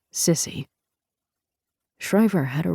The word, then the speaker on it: SSCI: Senator Nat Shriver was vice chair of the Senate Select Committee on Intelligence, or SSCI, which everyone in D.C. pronounced Sissy.